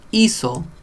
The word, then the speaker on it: hizo: The H makes no sound. It's just there. I imagine in some dialects it does make a sound, but maybe, who knows.